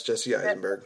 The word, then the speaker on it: Jesse Eisenberg: Yeah, it's Jesse Eisenberg.